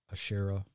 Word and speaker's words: Asherah: Now, if you've ever wondered what the Asherah or Asherah, as some people pronounce it, if you ever wondered